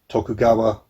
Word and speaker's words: Tokugawa: set during the i should get checked my pronunciation again tokugawa shogunate so yes not nice things happened in